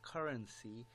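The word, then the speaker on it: CRNC: talk about the token see our MC which is pronounced as currency is their token is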